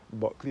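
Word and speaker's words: Bulkeley: Buckley is spelled B U L K E L E Y.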